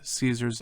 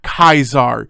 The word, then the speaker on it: Caesar: to how they pronounce Caesar's name it is Caesar not kaizar you dumb shits learn your Roman history it wasn't Julius kaisar it was Julius Caesar God but anyway Caesar